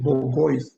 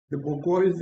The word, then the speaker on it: bourgeois: He talks about, he didn't know pronounce the word properly. He said bourgeois, he meant bourgeois.